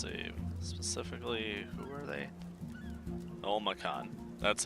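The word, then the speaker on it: Olmakhan: Olmacan. That's how you pronounce it.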